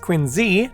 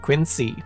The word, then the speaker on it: Quincy: president, John Quincy Adams, is supposed to be pronounced Quincy, not Quincy.